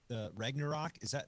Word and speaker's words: Ragnarok: They're kind of Ragnarok.